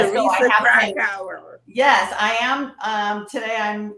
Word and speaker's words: Krakauer: So my name is Teresa Krakauer. I usually say crack hour, and it's easy to Krakauer.